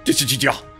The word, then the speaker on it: Dissidia: Jetzt wissen wir es, wie es ausgesprochen wird. Dissidia.